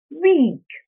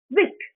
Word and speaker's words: weak: the last word n the last word was supposed to be weak w k and you pronounce it as Wick I need you to pronounce it I suggest you pronounce it 50% longer and then you will achieve the right result that's how specific I